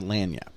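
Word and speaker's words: Lagniappe: read it, we had to ask Google how to say it, but it's Louisiana Lanyap is how you pronounce it.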